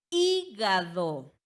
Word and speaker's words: hígado: Ejemplo, hígado.